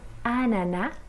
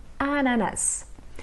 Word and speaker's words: ananas: Un ananá, ou l'ananá, ou l'ananas, un ananas. Se a gente pronunciar sem o S, é o mais comum aqui na França, então a gente diz